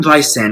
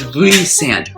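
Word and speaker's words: Rhysand: thing Rand did reand I keep calling him Rand not reand it's reand reand another thing reand did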